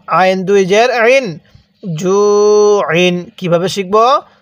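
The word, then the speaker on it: جُوعٍ: এরপরে আমার সাথে পড়ুন জিম ওয়াও পেশ জু, আইন দুই জের আইন, জু আইন। কিভাবে শিখব? জু আইন। হ্যাঁ, আমার সাথে পড়ুন জু আইন। এটাকে হামজা উচ্চারণ করবেন না, আইন উচ্চারণ করবেন।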